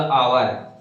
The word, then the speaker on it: hour: जैसे अब मैंने बोला आवर, HOUR, आवर। अब ये तो क्या, ये तो भाई कॉन्सोनेंट, इंग्लिश से कॉन्सोनेंट है, लेकिन जो हमारा इसका हिंदी उच्चारण हो रहा वो क्या हो रहा, आवर है ना।